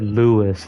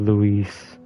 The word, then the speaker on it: Luis: You know, one thing I loved about the original Lori4, Leon always said his name wrong. He just said Louis instead of Louise.